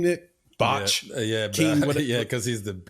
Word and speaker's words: Bach: is that how you say his name Nick Bach yeah yeah cuz he's the king B yeah